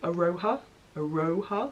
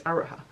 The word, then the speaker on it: Aroha: I want to elongate the O, Aroha, but it's not it's Aroha.